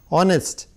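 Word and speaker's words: honest: क्या आएगा इस बच्चों, इसमें आएगा एन ऑनेस्ट man, because ऑनेस्ट का एच साइलेंट है, ओ एम्फेसिस किस में है, ओ शब्द में, ऑनेस्ट.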